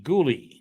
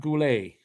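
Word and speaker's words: Guhle: I don't know pronounce ghouli g-u-h-l-e ghoulie not Goulet that I can tell you it's not Goulet all right give a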